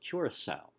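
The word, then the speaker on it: Curaçao: tale below the letter usually the letter C as in the word Curacao and it makes a normal normally hard C pronounced like an S ok the tilde is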